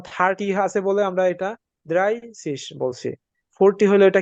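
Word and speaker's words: dreißig: দেখেন thirty thirty কে আমরা এখানে কি লিখছি দ্রাইসিস দ্রাইসিস দ্রাইসিস এখানে কিন্তু এই যে এস সেট হয়ে গেছে দ্রাইসিস আচ্ছা আমরা দেখি এখানে দ্রাই কেন আসছে থার্টি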